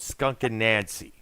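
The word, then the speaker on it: Skunk Anansie: A group called Skunk and Nancy. That's the name. That's how the name is pronounced.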